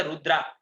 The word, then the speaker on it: रुद्र: Chemical का नाम दिया रुद्रा। जब उसको पूछा गया कि ये रुद्रा क्यों रखा, वहां लोगों ने पूछा, रुद्र रुद्र रखा था, लेकिन प्रोनाउंस में वो लोग रुद्रा बोले स्पेलिंग के हिसाब से।